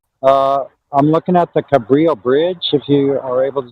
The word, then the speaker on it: Cabrillo: to there okay okay good uh you said Cambria Bridge yeah a Brio it's spelled c like okay okay cool hold on a second okay so it's called Cabrillo Bridge it's Cabrillo uh it's the Cabrillo bridge